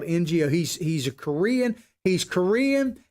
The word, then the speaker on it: Ngo: get his name right, Andy No, it's spelled Ngo.